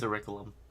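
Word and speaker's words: Orichalcum: Or is that Orcalum orum? It is oricum.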